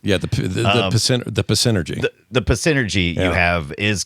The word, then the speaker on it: Psynergy: Think of like, this has Psynergy is spelled with a P. The P is silent. Yeah, the Psynergy.